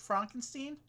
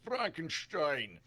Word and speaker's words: Frankenstein: Mary Shelly, is she the one who wrote Frankenstein? It's Frankenstein. It's Frankenstein. Oh, sorry. Yes.